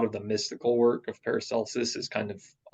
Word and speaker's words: Paracelsus: And I think this stuff with, and I'm going to pronounce it Paracelsus because I Okay.